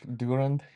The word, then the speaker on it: Durand: But the recent one goes back to the Abraham line, or we call it During line. Durand. I don't know how to say it in English. Durand, Yes.